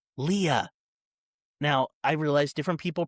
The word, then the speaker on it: Leah: Okay, the name is not Leia. It is Leah.